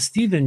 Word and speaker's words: Stephen: like Stephen, but you pronounce it Steven.